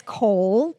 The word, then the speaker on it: kohl: So it's known as kohl, which is like coals, like spelled like coals.